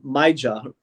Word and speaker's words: Maija: Or is it Maya? How do I pronounce it? Oh, yes, Maya.